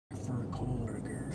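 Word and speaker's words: Kohberger: Brian Christopher Coberger.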